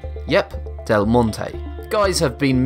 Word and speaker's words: Del Monte: When it comes to pronouncing delmon, a great number of people split it into two syllables instead of three. This changes the pronunciation from delmonte to delmont. Notice the difference. Once again, the correct pronunciation is delmon.